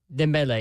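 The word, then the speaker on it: Dembélé: So Dembele, is that how you pronounce that guy's name? Hat trick. Dembele, yeah.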